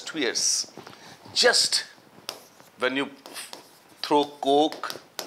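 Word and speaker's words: tuyeres: Furnace these are twiers they're written as tires or something like that but they're pronounced as two years just when you throw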